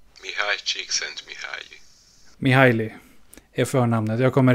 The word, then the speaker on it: Mihaly Csikszentmihalyi: namn som jag kommer ha väldigt svårt att uttala. Så det låter så här. Mihaly Csikszentmihalyi. Mihaly Csikszentmihalyi.